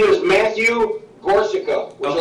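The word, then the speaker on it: Gorczyca: My name is Matthew Gorsa. Would you like to spell that? Yes, please. Last name Gorsa.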